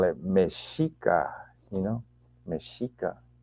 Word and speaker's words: Mexica: it meshika you know meshika you pronounce the X with the s s h um and there's just